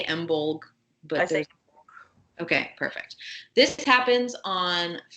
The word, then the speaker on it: Imbolc: this episode is called embold and this is also pronounced in a lot of different ways but it's spelled either i-m-b-o-l-c or I am b-o-l-g yep okay I say emblem okay perfect this happens